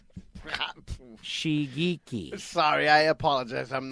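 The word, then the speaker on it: Shigeaki: Team is owned by former NASCAR NASCAR and open-wheel driver Shigege Hattori. Did I say that right? Shigeki.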